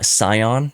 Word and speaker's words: Sion: in a moment the uh Sono Motors uh Scion s i o n I believe is how you uh spell it that is a vehicle that is absolutely